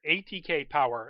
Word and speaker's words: ATKPWR: So this is the cosplayer ATK Power, and I pronounce it Power, but it's ATKPWR. I'm assuming it's ATK Power.